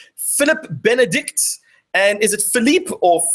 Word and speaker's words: Philipp: And is it Philippe or Philip? How do you pronounce it? It's Philip, actually.